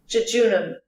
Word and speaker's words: jejunum: Let's see what Google says regarding its pronunciation. Jejunum.